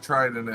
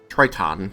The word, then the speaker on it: Triton: to say TR but he said it wasn't tridon it was Triton t r i t o n Triton Triton okay Army Bahamut